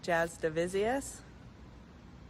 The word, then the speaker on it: Jasudavicius: Jasmine Jasdavizius. Jasmine Jasdavizius. Yeah, and like her dad, Kenny, doesn't want to hear Jasudavicius, right?